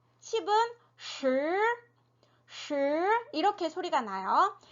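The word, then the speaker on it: 十: 혀를 평평하게 그냥 우리나라 발음 그대로 쓰레기 할 때 이렇게 하시면 되고 10은 어떻게 돼요? 동굴 소리죠. 혀를 말아서 입안에 동굴을 만들어서 내는 소리 시 이렇게 소리가 나요.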